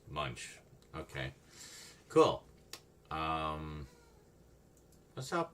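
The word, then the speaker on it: Moench: Doug, I always wondered how to pronounce his name, but it's just Munch.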